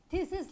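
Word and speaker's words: theses: तो आप लोगों ने सुना होगा ना कि बहुत फ्रेंड्स लोग PhD करते हैं, थीसिस लिखते हैं, कई सारे लिखते हैं, देन थोड़ा सा प्रोनाउंसिएशन बदल जाएगा, हम लोग बोलेंगे थेसिस।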